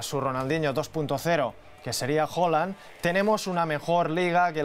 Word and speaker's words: Haaland: Por cierto, es Haaland, las dos As. Tenemos un comentario en YouTube que nos decía: soy noruego y se pronuncia Haaland, no Haaland, ¿vale?